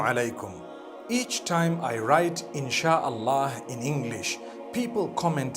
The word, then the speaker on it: إن شاء الله: No one says inshi Allah. They say InshaAllah. That's what it is. So I think we needed to correct this. Assalamu alaikum. Each time I write InshaAllah in English, people comment